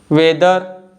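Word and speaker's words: whether: वेदर, whisper, Y.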